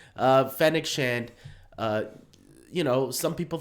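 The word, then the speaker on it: Fennec Shand: and fennick knew fennechand i knew it was pronouncing the name right wrong uh fennec shant uh you know some people thought maybe around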